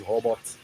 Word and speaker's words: Hobart: The brand is Hobart Hob or Hobot, however you want to pronounce it.